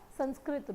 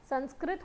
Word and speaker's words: संस्कृत: ये वर्ड आया कहाँ से, जैसे साइकोलॉजी का ग्रीक रूट था, इसका है हमारा संस्कृत रूट। संस्कृत होता है, संस्कृत नहीं होता, प्लीज़ थोड़ा थोड़ा अपने,